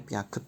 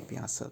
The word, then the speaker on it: Piaget: Tulisannya Piaget tapi bacanya Piaget, tapi harus tahu.